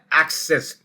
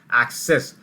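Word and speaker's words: access: word और है English के जो काफी मिस प्रोनाउंस किए जाते हैं सबसे पहला वर्ड है एक्सेस ए सी सी ई एस एस एक्सेस I have एक्सेस टू the library यानी कि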